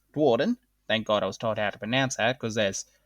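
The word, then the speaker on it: Duardin: After leaving Sigmar's travels, with Sigmar freeing the two Dwarden, because that's how it's pronounced, Dwarden.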